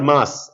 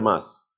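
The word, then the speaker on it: Meuse: is a rock Belgium the river called as river mass n e u s e the Germans crossing aren forest cross river mass it becomes the um no francogian borders m e u s e river river mass There are two lines.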